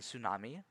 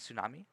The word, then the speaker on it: tsunami: out most of it the t is silent in tsunami yeah t silent tsunami you just kind of